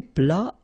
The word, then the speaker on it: plat: Then un plat principal, final T here not pronounced.